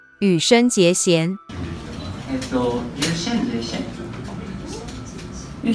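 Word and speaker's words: 羽生结弦: It's read as Hanyu Yuzuru. However, in Chinese, the same characters will be read as Yu Shen Jie Xian.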